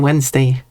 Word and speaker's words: Wednesday: the same way however we have changed the spelling to match the pronunciation that makes sense to me spell it Wednesday W or Y if you speak silly with that W E N S D A Y Bunny I think about Hello Crowley.